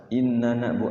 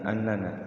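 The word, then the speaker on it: إننا: Innana bukan annana.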